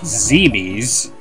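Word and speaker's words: Zebes: my argument was that it should be pronounced zeebee because it's like Phoebe's the capital of the ancient Egyptian Empire I think was the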